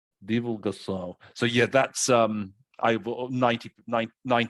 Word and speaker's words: Divulgação: So and also for that word, if you would please just pronounce it. Divulgação. Divulgação.